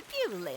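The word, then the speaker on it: Beaulieu: Yeah, there is a place called Ble except it's spelled B I E U L I E instead.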